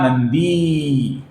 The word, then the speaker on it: नंदी: अब यहां पर आपको अगर भगहा और नंदी की जगह पर इसका उच्चारण करना है तो इस प्रकार उच्चारण कीजिए दोस्तों, भगहा नंदी। इस प्रकार आप यहां पर उच्चारण कर सकते हैं। सिर्फ यहां पर अगर आप ऐसा उच्चारण करेंगे तो फिर नंदी की जगह पर आनंदी शब्द आ जाएगा, जिस नाम का अर्थ अलग होगा।